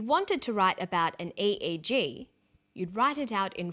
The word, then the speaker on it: EEG: or an acronym an eeg brain scan helps answer that say the swinburne researchers he says an e e g that's an abbreviation we don't pronounce it egg we say e e g eeg stands for electroencephalograph